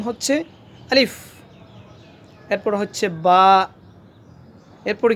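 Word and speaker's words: ب: এরপর হচ্ছে বা।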